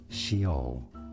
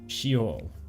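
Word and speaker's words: Sheol: In English, this is said as shol. Shol. Shol. In Hebrew, however, it is normally pronounced as shol.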